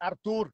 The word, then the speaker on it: Artur: You who's and Arthur? Mark. Say my name properly. Arthur. It's not Arthur. It's Artur.